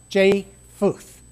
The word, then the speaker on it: Japheth: name is spelled j-a-p-h-e-t-h i keep wanting to add the p into it but that's silent so i phonically spelled it for myself but it sounds jay futh they were the three